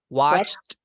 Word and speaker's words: watched: I watched, creo que así se pronuncia. Watched. Watch. Ajá. I watched a new movie on TV last night. Okay, repeat. Watched. Watched. Con T al final.